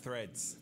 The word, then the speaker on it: Threads: É um saco, cara, porque tem um TH, é Threads. Threads.